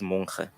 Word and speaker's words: Monkhe: Um, and the community of Mfume decided to take a shortcut and pronounce the surname Monkhe instead of Monkhe. So that's why we have two surnames in a way. But the correct pronunciation is Monkhe.